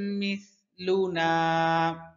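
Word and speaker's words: مثلنا: Miss সা পাতলা হরফ, সা পাতলা হরফ। অনেকে বলে মিস মিস, হ্যাঁ সম্পূর্ণ ভুল, সিনের উচ্চারণ হয় মিস মিস। হ্যাঁ লুনা ইল্লা বাশারুম মিসলুনা ইল্লা বাশারুম মিসলুনা ইল্লা বাশারুম মিসলুনা ওয়ামা আনজালার রহমানু।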